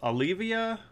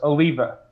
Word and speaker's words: Alleva: Olivia? Oliva? Close, close. Alleva. Oliva. Yeah. Kind of like the medication Aleve, just added, Aha.